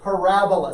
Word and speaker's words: parabola: all right parabola okay emphasis on the second syllable parabola say that with me